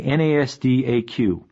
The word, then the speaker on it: NASDAQ: the New York Stock Exchange nysse and the NASDAQ which is pronounced NASDAQ NASDAQ stands for the National Association